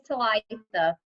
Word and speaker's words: Talitha: Do you say your name Talitha? Is that how you say it? It's Talitha. Talitha.